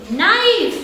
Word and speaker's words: knife: k n k n k is silent KN KN knife knife not not k